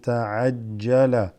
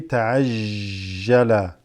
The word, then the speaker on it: تعجل: Some people say ta'ajjala, okay? They say ta'ajjala, that's wrong. You don't kind of blur or smear the jim, so to speak, okay?